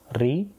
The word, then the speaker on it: ロ: இதே வந்து உச்சரிக்கப்படும் பொழுது ரோ அப்படின்னு வந்து உச்சரிக்கப்படுது அப்படின்றத நீங்கள் நினைவில் வச்சுக்கோங்க.